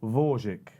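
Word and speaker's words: Gvozdyk: champion, and the WBC champion, let's get the pronunciation right, Alexander Dvorak.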